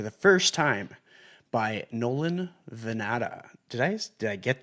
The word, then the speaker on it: Vannata: Welcome back to the Chasing Common Ground podcast and today I'm joined for the first time by Nolan Vanata.